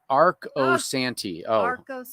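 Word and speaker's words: Arcosanti: long long time so so it's Arc o Santi oh thank you for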